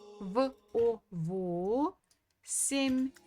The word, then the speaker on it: восемь: So it will be во, во, семь, восемь, восемь. So again, the stress falls on O.